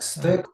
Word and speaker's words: stack: Так, тільки не стейк, бо це виходить відбивна.